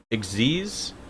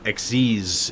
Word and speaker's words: Xyz: xe's think of size xyz is how it's spelled it is how it's pronounced oh yeah xyz yeah it's uh supposed to be i think a like slight corruption of the uh the word exceed uh but it's xz's is how it's uh pronounced for whatever reason sounds dope to me